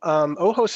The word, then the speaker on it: OHOS: So OHOS is actually, it's OHOS. It's a play on the Spanish word for eyes, which is OJOS.